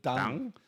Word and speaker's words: Deng: At some point, Mao gets past it, and you say Deng Xiaoping? Well, I pronounce it Deng.